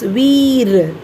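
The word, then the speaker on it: we're: So we are should be pronounced as veer.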